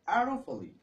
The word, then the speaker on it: Arafali: No, এটার উচ্চারণটা হবে Arafali.